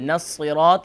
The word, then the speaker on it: الصراط: الصراط إن صراط is صاد نو سين. صاد is pronounced full mouth.